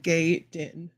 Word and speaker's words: Gaiden: Ninja Gay Den. Ninja Gay Den. That's how you say it.